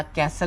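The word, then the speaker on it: castle: सी एस टी एल याला कॅसल म्हणून असं ओळखलं जातं.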